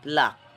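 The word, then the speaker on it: plaque: Pluck. P-L-A-Q-U-E. Pluck. Another meaning of pluck. They have the same spelling, the same pronunciation, but different in meaning.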